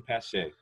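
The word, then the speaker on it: Pache: talk about was kristen christian pasche is that how you pronounce yes yeah christian pasha right uh i wasn't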